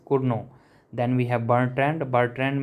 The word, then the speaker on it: Cournot: Some people pronounce is Cournot but it is pronounced as Cournot.